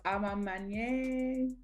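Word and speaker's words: A Ma Maniére: And I can never pronounce it. Amani is a mint. I know it's Amamanye.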